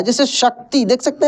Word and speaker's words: शक्ति: दोस्तों, तालब विषय का उच्चारण तालु से होता है। जैसे शक्ति, देख सकते हैं लिखा है क्या?